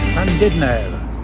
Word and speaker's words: Llandudno: We are in Llandudno, which is the slightly correct Welsh pronunciation.